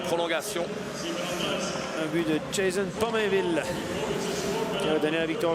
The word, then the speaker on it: Pominville: Il y a des garçons qui ont l'habitude de regarder les matchs de hockey sur ESPN et effectivement les Américains prononcent à l'américaine. Oui. Mais nous, les noms québécois, on les prononce en français, mes amis. En québécois, pardon. Et en québécois, oui. Voilà, c'est l'occasion aussi, cet